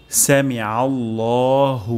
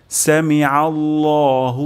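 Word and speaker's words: سمع الله: এবং শেষেও একটি গোল হা উচ্চারণ হবে, হামিদাহ, সামিআল্লাহু লিমান হামিদাহ। তাহলে এখানে আমাদের গুরুত্বপূর্ণ দুটি উচ্চারণ হলো সামিআল্লাহ, এখানে আইন হবে আল্লাহ বলা, তারপর সামিআল্লাহু লিমান হামিদাহ, এবং এখানে হা উচ্চারণ করা, হামিদাহ।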